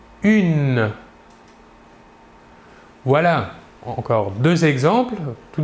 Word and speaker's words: une: une il s'écrie humaine il faut bien différencier la prononciation entre le masculin et le féminin au masculin 1 et au féminin une voilà encore deux exemples